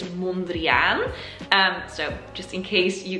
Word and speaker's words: Mondrian: And the proper Dutch way to pronounce his name is Mondrian.